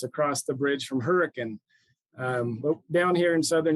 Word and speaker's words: Hurricane: make the joke it's across the bridge from Hurrican um down here in southern Utah proud graduate